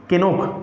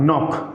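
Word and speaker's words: knock: से एक बार जरा कोशिश कीजिए बोलने की केनॉक केनॉक नहीं होगा नॉक क्या होगा नॉक बिकॉज हम लोग क्या कर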